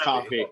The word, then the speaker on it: Coffey: me and dustin but i will say it is pronounced cough it is pronounced coffee you know i'd respect